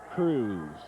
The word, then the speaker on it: Crews: Art Cruz, University of Kansas, comes from Topeka, Kansas.